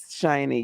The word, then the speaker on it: Shiny: that how you pronounce her name? Shiny? Yes, Shiny, yes. Yes.